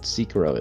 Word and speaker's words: Sekiro: And I'd like to thank the Harden Hotel Room for letting me know what Sekiro is. Sekiro. You have mispronounced Sekiro so many times.